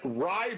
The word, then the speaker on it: Rai: uh aaron rye bread but it's spelt rai like ray watch out for him